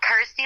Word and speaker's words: Kirsty: that it's you know rhymes with my name and helps people pronounce my name correctly so I'm like cool Kirsty like thirsty got ity like thirsty